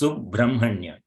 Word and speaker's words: Subrahmanya: So though it is written as Brahma, so we need to pronounce it as Brahma. Okay, it is Subrahmanya.